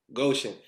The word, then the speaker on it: Goshen: say you say goshen or gosh how you pronouncing it yes goshen goshen so coming from goshen uh what what was